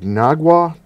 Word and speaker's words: Naugatuck: Naugatuck.